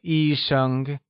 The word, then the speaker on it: 医生: I am a doctor translates as 我是医生, where 医生 is pronounced using the first tone.